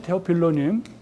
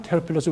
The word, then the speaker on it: 테오필로스: 존귀하신 테오필로님, 테오필로라고도 하고, 테오필로스 우리 지금 끝에 S 발음을 해서 테오필로스라고도 하고요.